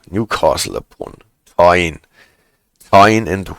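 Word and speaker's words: Tyne: the their own soup to cook but those thingies came into existence in 16 eight and we're still around in 87 T rhymes with wine yes T Newcastle upon t t and Weir right it's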